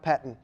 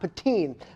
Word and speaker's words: Pettine: In the meantime, let's talk about Mike Pettine. You like that transition there? Again, these cheese puns will help you learn how to say the names. The new defensive coordinator, Mike Pettine, not Pettine. Mike Pettine, what do we know about him?